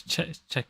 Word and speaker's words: Czech: I keep on thinking Czechoslovakia exists but is separate now. All right. Yeah, it's check.